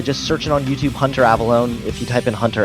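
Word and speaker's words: Avallone: I mean, just my name, Hunter Avalone. It's spelled A V A L L O N E.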